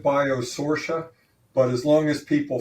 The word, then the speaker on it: Biosortia: Uh, it's a pleasure to be here and, uh, we pronounce it Biosourcia, but as long as people find us, we're happy about that.